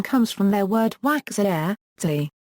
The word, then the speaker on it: waks'ahe:ts'i: Sounds almost like the A of hat. TS before I in this language often sounds like CH to English-speaking ears. I has the continental value, like the one in English machine.